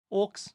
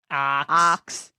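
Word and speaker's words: auks: Orcs. Sounds like orcs. Good. Wait, that's a British pronunciation. Oh, no. The American pronunciation? Ox. Ox. That's an ox. Ox. Yeah, you say orcs and ox the same way you.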